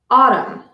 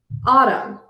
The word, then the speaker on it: autumn: at the silent n n is silent when it follows M at the end of the word such as Autumn I love the Autumn Leaves Autumn column the article takes